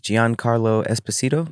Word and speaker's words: Giancarlo Esposito: Do you know I think his name is Giancarlo Esposito?